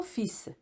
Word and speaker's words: fils: au pluriel qu'au singulier mais le S final est prononcé deuxième faute le mot